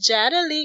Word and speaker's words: Yadali: i'm just gonna remind people my name is jada lee guys and it's spelled y-a-d-a-l-i you can find me across all